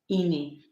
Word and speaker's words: Ini: but I decided to use the short form, Ini. It is pronounced I N I.